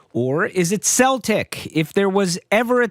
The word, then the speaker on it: Celtic: For years, English speakers pronounced this word with a soft C in all contexts.